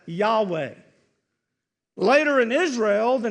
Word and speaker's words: Yahweh: And we usually pronounce that Yahweh.